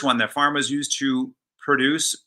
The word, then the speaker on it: produce: produce produce um so the verb is produce right i'm having i'm putting the accent on the cell second syllable produce and then the noun is produce and i'm putting the accent on the first syllable so typically and of